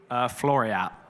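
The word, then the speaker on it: Floreat: We do not like to see that from Flo Reet there racing. Am I pronouncing the name correctly? Floriat.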